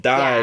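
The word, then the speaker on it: 大: The kanji for big gets used but it gets pronounced die because in Japanese the word die means big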